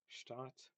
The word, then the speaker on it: Stadt: So um, here is an example of something where if you don't distinguish between short and long vowels, it might just sound like they're pronounced the same, like oh Stadt, Stadt.